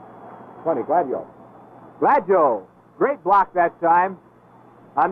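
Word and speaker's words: Gladieux: himself and he said he would prefer to have it pronounced glad joe and jim i think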